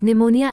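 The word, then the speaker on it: pneumonia: एम N column खंभा एन तथा एस के पहले आया पी प्राया साइलेंट होता है जैसे पीएसएच ए डब्लू शॉट धिक्कार पीएस वाईसी एओ एल ओ जीी वाय साइकोलॉजी मनोविज्ञान पी एनए यू एम ओ एन आईए निमोनिया एक बीमारी क्यू कभी अकेला नहीं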